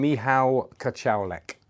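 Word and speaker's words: Michał Kociołek: got this last week now I'm going to embarrass myself as always with the pronunciation me how catch alec i think is the pronunciation i me how you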